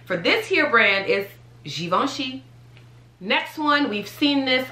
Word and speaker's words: Givenchy: we've already seen it givenchy givenchy it's not javinci it's not gavin chi it's g very french very you know very